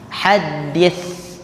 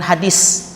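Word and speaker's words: حديث: gigi seri bagian atas fahaddit hadit haddit nah bunyinya seperti itu ya ya Ee bukan hadis hadis hadis hal itu sudah diindonesiakan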